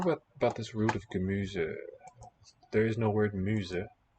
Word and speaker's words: Gemüse: I wonder what about this root of Gemüse. There is no word Muse. They got a German word. Gaelic Irish. And a single letter in this position in a word, single letter S, will be voiced Z.